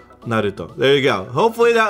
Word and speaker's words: Naruto: Naruto. Naruto. There you go. Hopefully that was correct. Not Naruto. It's Naruto. Anyways, Warcraft.